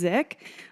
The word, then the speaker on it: Dzik: Dzik. A lot of people can't pronounce my last name. So if you ever need a clue, it's just the D is silent.